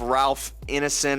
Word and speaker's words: Ralph Ineson: And then let's get into the big man himself, Ralph Ineson, I believe that's how you pronounce his name.